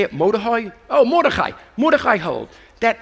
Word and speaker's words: Mordechai: Mordechai?